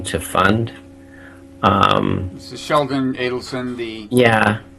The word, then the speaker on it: Adelson: This is Sheldon Adelson, the Yeah, I've been told recently he goes more by Adelson, but does he? so I've been trying to correct my previous pronunciation.